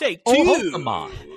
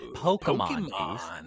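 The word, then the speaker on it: Pokémon: Sorry. It's Pokemon. Pokemon. That's how you say it. Pokemon.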